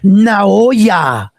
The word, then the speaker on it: Naoya: He said it's Naoya. He put now and then Oya.